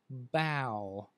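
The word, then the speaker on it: bough: to a b you would have the word bow b-o-u-g-h the bow of a tree right so you can't follow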